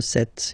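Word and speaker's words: sept: it S, 26, 27, remember set, it was this P disappear, you don't pronounce it, 27, 28, so here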